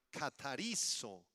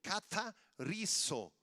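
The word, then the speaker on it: καθαρίζω: Y la palabra para limpieza en griego es la palabra katarizo, con acento en la I y Z, K al principio, katarizo.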